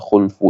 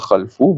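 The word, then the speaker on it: خلف: khulfu hal kadaan perkataan khulfu itu makruan dibacakan dia bidamil KH dengan didamahkan akan Kha bacanya khulfu bukan khalfu bukan khilfu mengingkari fil wa'di pada janji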